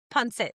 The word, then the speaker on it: pancit: Pad, Punsit. Pancit, yeah.